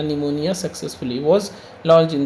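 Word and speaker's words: pneumonia: neutralise न्यूमोनिया न्यूमोनिया successfully य पी से है ना इसको पी साइलेंट होता है तो याद रखना निमोनिया सक्सेसफुली वाज लच इन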